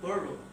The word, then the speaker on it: borrow: Jadi misalkan kita ingin meminjam, mungkin kita akan bilang I want to borrow. Yang artinya saya ingin meminjam. Borrow itu pengucapannya borrow. Karena R-nya double, samar tetapi tebal, borrow.